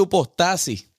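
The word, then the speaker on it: ὑπόστασις: Ese término en ese capítulo es un término griego que se pronuncia upostasis y que quiere decir colocarse debajo de.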